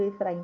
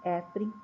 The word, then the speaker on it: Efraim: Frei Efraim de belev eu tô lendo Efraim para vocês perceberem a diferença de escrita mas a pronúncia é Frei efr de belev Então os restos mortais